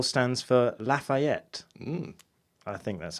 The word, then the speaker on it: Lafayette: And the L stands for Lafayette.